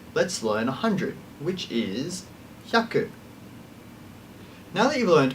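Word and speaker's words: 百: learing our numbers let's learn 100 which is yaku now that you've learned 1 to 10 and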